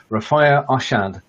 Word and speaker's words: Rafia Arshad: And today's a very special day as I get together and talk to my special guest, Rafia Arshad. Now, have I pronounced your name correctly, first of all?